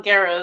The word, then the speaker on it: Guerra: Yes, Guerra is how I pronounce my last name.